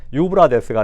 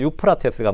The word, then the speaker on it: 유프라테스: 유브라데스가 아니고 유프라테스가 맞죠.